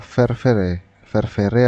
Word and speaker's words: fervere: Nah, jadi fermentasi itu berasal dari kata fervere atau ferver ini bacanya, yang artinya ini merebus atau mendidih ya.